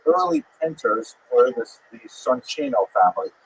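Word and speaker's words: Soncino: painters were this the sonino family. I will probably pronounce it sonino because you know I was born in North America but it is uh in situ it would be pronounced sonino.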